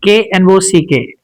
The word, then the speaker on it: knock: For instance, K N O C K. Do we pronounce this word as knock? We don't pronounce it. Here K becomes a silent.